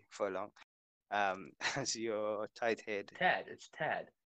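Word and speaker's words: Tadhg: Tad. Not Tad. Tad, my fault. It's because of the way it's spelled, you know what I mean?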